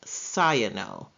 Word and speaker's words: cyano: we have the prefix of cyano it is pronounced cyano and cyano in its prefix is means blue